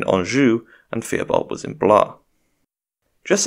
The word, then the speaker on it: Blois: cousin and Henry's nephew Steven of blah which I'm told isn't pronounced blois because the French are no fun quickly seizes the crown